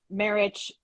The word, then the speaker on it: Marich: pronouncing your name correctly is it marriage marriage yes yes so it's interesting and